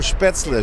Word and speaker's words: Spätzle: Yeah, le, not la.